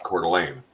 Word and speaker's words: Coeur d'Alene: that is named after, it should be a French pronunciation, which would be Coeur d'Alene, right? Yes. But it's not. It's Americanized. It's Coeur d'Alene.